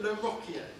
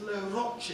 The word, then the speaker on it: Le Rocher: Only for some strange reason, people don't pronounce it in the proper Jèrriais way. They call it Le Rocher. It's Le Rocher.